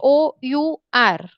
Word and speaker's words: hour: okay supposed okay so spelling for an hour is h o u r okay but here h is silent our balloon okay so